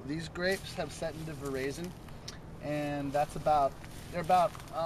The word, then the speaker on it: Veraison: The term's called Veraison. People pronounce it differently. Veraison, I've heard. The French is Veraison.